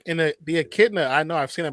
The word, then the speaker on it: echidna: echidna is like Echidna, a yeah. porcupine, but not. And done for your pronunciation, and well done for your pronunciation, Non.